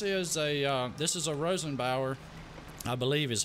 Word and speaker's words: Rosenbauer: right so this is a this is a Rosenbauer I believe is how you pronounce it firetruck it's got the spinner on